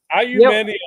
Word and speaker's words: aluminium: No, aluminium is actually the right way to say it, though.